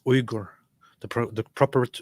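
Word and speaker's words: Uygur: in there no huh okay it's actually it's Igor the the proper pronunciation is I'm just saying spell check keeps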